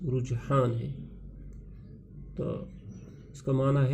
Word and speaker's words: رجحان: پیارے بچوں، یہاں رجحان لفظ ہے، اس کا تلفظ رجحان ہے، تو اس کا معنی ہے میلان، توجہ،